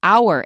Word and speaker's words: hour: with their mouth open there are only a very few words from French in which the H is not pronounced and some are very common like hour in an hour we would not say